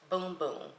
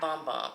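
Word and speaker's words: Bum Bum: nobody ever tell me it's supposed to be pronounced boom boom not bomb bomb everybody says boom boom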